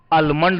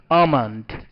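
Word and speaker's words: almond: शियो means पिस्ता अमं इसमें L silent रहता है इसे हम पढ़ते हैं अमं आलमंड नहीं ल साइलेंट रहेगा क्या बोलेंगे अमंड अमंड मींस बादाम दिख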